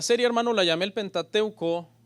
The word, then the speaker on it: Pentateuco: La serie, hermano, la llamé el Pentateuco y algunos quizás esta es la primera vez que van a escuchar esa palabra. Viene de una palabra griega que es Pentateuchos, así se escribe, pero se pronuncia Pentateuco y significa rollo de 5 volúmenes.